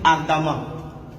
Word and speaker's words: ardemment: Au fait, en français même, la lettre E, suivie, qui est précédée de deux M, se lit A. C'est pour ça que lorsque vous écrivez, par exemple, vous dites ardemment.